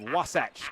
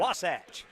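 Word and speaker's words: Wasatch: No word on whether or not he's been removed as the Republican party chairman of Wasace County, which I mispronounced the first time around. Wasach.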